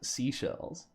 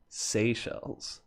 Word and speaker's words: Seychelles: way I learned that it's not seashells it's Seychelles that is how you properly say it thank you thank you